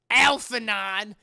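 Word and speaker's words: Alphinaud: relationship between the Twins alphanod pronounced alphanon and al-ass pronounced alas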